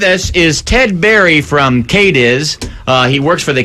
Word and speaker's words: Cadiz: people of kades that c a d i z pronounced kades Kentucky are looking for Glory